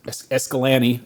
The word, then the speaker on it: Escalante: Dominguez and San escal Escalante well because like Lake Pal has a bay called es escalan is what locals call it escalan mhm you got